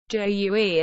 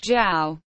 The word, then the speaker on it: Jue: Jue, acute, not pronounced jiao, a wine cup similar to a, except the spout and brim extension are identical and there is a cover.